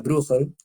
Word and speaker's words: Bruegel: traer pintores Brugel en la familia Brugel o Bruegel, que se pronuncia Brugel.